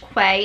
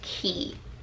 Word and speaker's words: Quay: It's, I don't think it's pronounced Quay. It's spelled Q-U-A-Y, but I think it's pronounced Key.